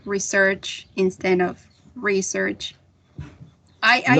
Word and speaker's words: research: like that and and research i would definitely place the primary stress re right re search for a noun teacher is there is